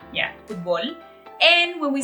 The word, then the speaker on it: futból: United States, we love football. We just mean completely different sports when we say the word football. So in Mexico, we say football, like there's like a stress in the O, yeah, football.